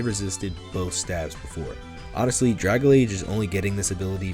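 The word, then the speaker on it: Dragalge: Now we all thought Dragalage, and yes, that is the right way to say it, was a water type at one point.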